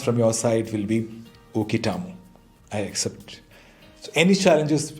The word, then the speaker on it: Uketamo: Pronounced as UKETAMO.